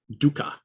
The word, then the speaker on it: dukkha: But the word used here is the word dukkha, okay, typically spelled in English D-U-K-K-H-A, dukkha, D-U-K-K-H-A, dukkha.